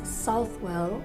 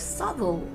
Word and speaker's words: Southwell: does it really matter if some people pronounce south well like subtle itself well obviously because that's how it's written isn't it subtle is a pronunciation